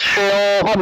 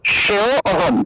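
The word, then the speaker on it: শ্রেয়োঽহম্: কিন্তু আপনারা কি করেন, শ্রেয় অহম, শ্রেয় অহম এরকম অটাকে পূর্ণ উচ্চারণ করে ফেলেন, এরকম আলাদা আলাদা করে অরূপে উচ্চারণ করলে হবে না, এটাকে একসাথে উচ্চারণ করতে হবে।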